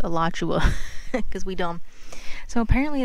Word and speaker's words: Alachua: Alright, so it's pronounced Alachua because we dumb.